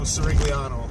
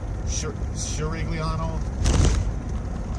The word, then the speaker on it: Cirigliano: So Andrew Cirigliano. Although I think it does. I saw the video when you were talking about your last name and the old world pronunciation of it, Cirigliano.